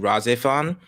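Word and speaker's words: RahXephon: I do suggest watching razifon it's spelled r r a h x e p h o n yeah it's actually really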